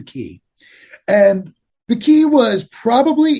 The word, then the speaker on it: Quay: a place called the key or the quay is the way it's spelled but it's pronounced the key and the key was